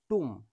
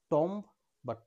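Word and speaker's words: tomb: বম বি এর আগে এম রয়েছে এর সঠিক উচ্চারণ টুম নট টম বা টুম্ব বি এর আগে এম রয়েছে এর সঠিক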